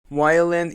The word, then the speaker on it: violent: Violent is an adjective. The stress is on we.